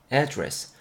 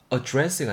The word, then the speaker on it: address: 발음적인 거 여러분 이거 address로 발음하신 분들 많을 겁니다. 근데 얘가 이제 명사로 발음이 될 때, 뭔가 주소라는 느낌을 전달하는 명사로 발음이 돼야 될 때는, 쓰일 때는 발음이 address. address가 아니고 address 이렇게 발음이 돼야 됩니다.